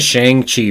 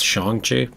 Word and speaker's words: Shang-Chi: Like, I've been saying Shang-Chi for so long because I didn't know the right way to pronounce it, that it's Shang-Chi.